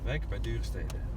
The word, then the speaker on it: Wijk bij Duurstede: Is it Bish or Bij? Bij. Wijk bij Duurstede. Stede. Ja, stede. Wijk bij Duurstede. Wijk bij Duurstede. Yeah. And you have to be Wijk bij Duurstede. You have to say it like that. It's better.